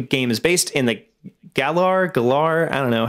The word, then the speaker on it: Galar: And I'm pretty sure it's Galar.